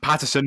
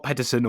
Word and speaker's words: Paterson: Anyway, so yes, Lesley Paterson, not Pedersen or whatever, is a 5-time world champion triathlete.